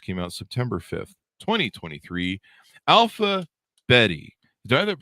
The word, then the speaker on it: Alpha Bette: I that pronounced correctly alphab betti Jennifer well it's a good question I tend to call her alphabet alphabet I should have asked that before Davis like bet Davis ah Betty Davis eyes there you go